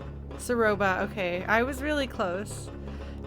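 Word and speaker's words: Ceroba: Did I get her name wrong? Saroba, okay.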